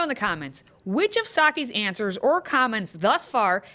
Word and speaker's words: Psaki: Here's a tip to help you pronounce her name. Just remember that she's Psaki a lot at her job.